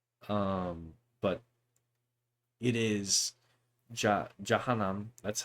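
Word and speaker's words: Jahannam: Um, but it is ja janam. That's how it's pronounced.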